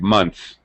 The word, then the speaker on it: months: we get rid of the th sound so it sounds like months three months I'll see